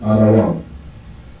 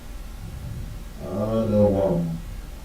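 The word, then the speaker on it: אדום: In the Hebrew, it's spelled with Da, Wa, and Ma. The Wa and the Ma are connected. It is pronounced Adawam. Adawam.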